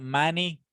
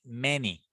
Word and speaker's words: many: when we say many it's not money it's many many of you can produce